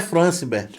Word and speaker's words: Francibert: O meu nome, na verdade, é Francibert. Só que o Franciberto. brasileiro, ele pronuncia Francibert, né?